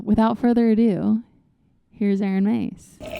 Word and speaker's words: Mees: Yeah, you can say Meese or Mace technically, but it's it right, though. Um well, yeah, there you go. It's a It is a Dutch name.